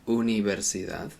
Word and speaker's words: universidad: First of all, the U sound. In English we say university, we say the U a bit like U. In Spanish it's more of a U sound.